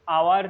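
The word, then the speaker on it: hour: the world I need आवर to complete this task ताले एटा जदि letter देखिए letter हिसाब से लगी ए बट प्रोनाउंस कला बेले आवर प्रोनाउंस करेंगे एच टा साइलेंट रहिबो तो आवर प्रोनाउंस कले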